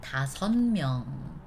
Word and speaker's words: 다섯명: However, because of the right next to the bottom consonant is actually M. M is the most, one of the most softer sound in Korean, right? So that this 다섯명, tough to pronounce, this previous sound make it become a little bit softer. So we put like N, 다섯명. 다섯, like an N pronunciation. Okay?